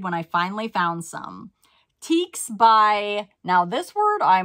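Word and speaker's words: Tieks: She told me in parentheses how to say it. It's teaks.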